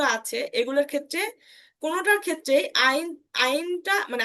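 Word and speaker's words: ein: আইন আইনটা মানে আইনসটা আইনস হবে না এগুলোর ক্ষেত্রে আইন হবে আইন উচ্চারণ হবে কি হবে আইন উচ্চারণ হবে অর্থাৎ এসটা আমরা নিব না এস শুধুমাত্র আইনস বলার সময় আইনসটা নিব অর্থাৎ ওয়ান যখন বলব তখনই শুধুমাত্র আমরা এসটাকে নিব বাকি কোন ক্ষেত্রে আমরা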